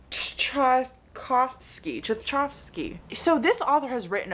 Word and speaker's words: Tchaikovsky: Shards of Earth by Adrian Tchaikovsky. No, that's not how you say his name. Tchaikovsky.